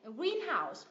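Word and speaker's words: greenhouse: blackbird Ok tiếp này green house green house cũng là danh từ ghép đúng không nhấm tiết thứ nhất green house green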